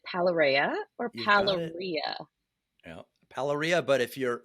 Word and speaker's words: Palarea: Hermione moment here, trying to make sure I pronounced your name right. This is Rich. Is it Palarea or You've got it. Palarea?